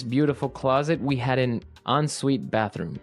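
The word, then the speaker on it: en suite: UI t e so even though it's e n we pronounce it like an o n yep onite so an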